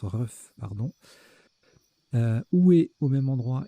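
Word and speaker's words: RUGH: Ça se prononce RUF, pardon.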